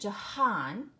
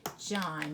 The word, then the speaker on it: John: name John it isn't Jahan okay it's just John I don't hear that H in the middle you just hear short oh and the N in